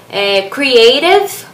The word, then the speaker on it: creative: Então, a dica como pronunciar essas duas palavras creative, o comecinho é bem fácil, creative. Aí esse rave, eu sinto que a gente pronuncia como se fosse um R, mas não é aquele R forçado que a gente fala às